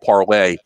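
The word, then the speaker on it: Parler: conservatives call it's called it's called parlay but it's spelled like parlor so that's the term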